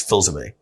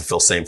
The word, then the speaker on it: Filsaime: The way I used to say my name is Filsaime. But I changed it to Filsaime for online. I just knew people weren't going to be able to, convert the spelling and the sound.